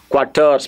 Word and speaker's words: quatorze: Another figure that people they will say quatorze, quatorze. Please, it's not qua, it's ka, quatorze.